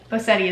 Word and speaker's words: Bosetti: Bosetti is how you say my last name, by the way.